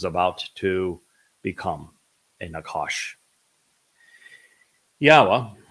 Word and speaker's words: Yahowah: Yahowah, which is the proper pronunciation of Yod He Wah He, he is our Elohah. The O sound from Elohah, God, is provided by the Wah, and it is concluded by the Ah sound in Yahowah's name.